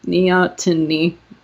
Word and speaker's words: neoteny: Neoteny. I have to pronounce my T's. I always leave them out. It's neoteny.